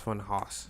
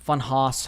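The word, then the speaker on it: Funhaus: but he originally was I thought it was pronounced fun Haas fun Haas however you want to pronounce it um but he was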